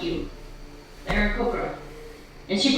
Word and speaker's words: Aarakocra: Aarakocra. And she pronounces it correctly.